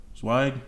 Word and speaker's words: Zweig: Zweig. I think it's like a German name, so they pronounce the W like a V, but that's neither here nor there.